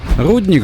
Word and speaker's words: Рудник: Рудник же, да, с ударением на «у». Не спрашивайте почему, сам не знаю, местный говор, видимо, либо для различия от рудников промышленных, чтобы понятнее было.